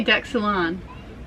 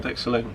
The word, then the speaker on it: deck saloon: You say deck salon. No, deck saloon. Deck saloon. I think Americans say deck salon and Yeah, well, British say deck saloon.